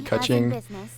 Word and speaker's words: Keqing: I looked up like 6 different pronunciation guides for this video, and it's supposed to be Keqing. It's like the Chinese way to pronounce it.